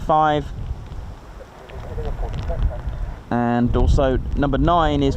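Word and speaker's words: fife: other one so that's there's also five f i f e instead of five and also number nine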